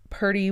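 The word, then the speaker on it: Purty: so that everybody knows Purdy was actually spelled p-u-r-t-y and that's why I pronounced it that way I definitely understand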